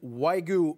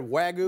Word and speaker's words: Wagyu: This is specifically the American Wagyu burger. Yeah. Say it right, Wagyu?